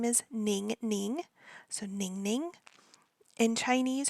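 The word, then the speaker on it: Ningning: common one so in Korean her name is ning ning so ning ning in Chinese her name is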